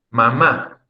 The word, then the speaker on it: mamá: La persona que nos engendró, la persona que nos dio a luz, se escribe con tilde, con acento ortográfico. Es en la última sílaba.